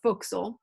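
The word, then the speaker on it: forecastle: the gala galley in fort castle or foxel as is pronounced often by a sparred passage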